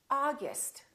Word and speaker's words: August: We don't say oh. We say ah. August.